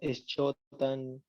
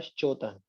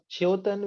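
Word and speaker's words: श्च्योतन: आइए, इसमें पहला शब्द है जिसमें अधिकतर लोग गलत उच्चारण करते हैं। कोई बोलता है इश्चोतन, कोई बोलता है कुछ, कोई बोलता है कुछ। इसका सही उच्चारण तो होता है श्चोतन।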